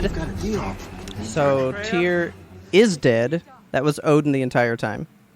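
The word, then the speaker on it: Týr: Also, Tyr is spelled Tyr. Uh-huh. When anybody says his name, it's Tyr, but there's an accent on top of the Y. So that's not really Tyr.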